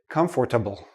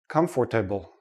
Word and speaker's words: comfortable: say all the letters I've heard many students say comfortable comfortable but native speakers we don't say this part we don't say the